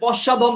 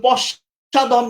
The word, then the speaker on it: পশ্চধম: পশ্চাধম দেয়া আছে, কিন্তু পশ্চাধম নয়, ইট উইল বি পশ্চধম। আবার বলে দিই, এটা হবে পশ্চধম।